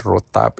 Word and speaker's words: rotab: And rotab is spelled r o t a b.